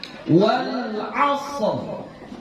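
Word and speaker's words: والعصر: Maka ra yang di sini ini kita baca tafkhim. Jadi kita bacanya wal 'asr. Coba.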